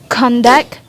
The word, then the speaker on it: conduct: the second syllables and if the word is a function as noun the stress is placed on the first syllable example in the noun kandak conduct and in the verb it's spelled as conduct at a tribute and